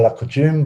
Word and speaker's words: la coutume: I'll let Sally pronounce this. I always say la coutume, but I'm not sure that I've got that right.